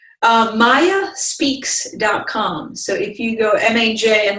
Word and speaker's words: Maja: So if you go M-A-J, and my name is pronounced pronounced Maja, but it's spelled with a J.